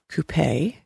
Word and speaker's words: coupe: Then there is a coupe, C-O-U-P-E, with the accent on the E.